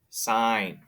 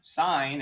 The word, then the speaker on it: sine: i have to use sine sine not so not sin sine okay so the sine of 26 degrees equals i don't get to decide the ratio sine is always opposite x over hypotenuse 14.